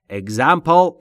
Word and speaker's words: example: Example یعنی مثال. دوستان تلفظ example پا دقت بکنید آخرش پل نیست.